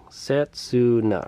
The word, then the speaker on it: Setsuna: we get there but i think this says setsuna setsuna right right one two three syllables yeah that's sensitive okay